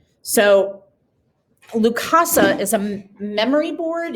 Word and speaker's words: Lukasa: Okay, so this is the Lukasa memory board.